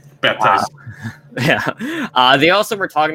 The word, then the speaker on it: Baptiste: So Michael Chu clarified that Baptiste pronounces the P in his name. Baptiste.